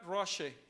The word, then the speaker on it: Rosh: Roche. La palabra, esa palabra se dice Roche.